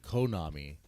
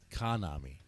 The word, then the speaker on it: Kanami: I'm actually saying Konami and it says Kanami.